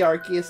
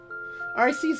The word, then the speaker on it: Arceus: Don't like how I have to keep an eye out for shinies instead of just hearing the Arceus notification.